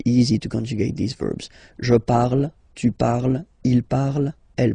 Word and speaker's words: parle: to pronounce it is je parle, parle. So remember, we put it, okay, but then we don't really pronounce it.